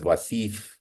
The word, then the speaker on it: Wasif: uh Musa ali um like all names that get distorted in various languages my own name is is pronounced as wasif in America so he obviously transitioned